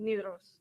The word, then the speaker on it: Nidaros: Nidaros, how do you say it? Nidaros.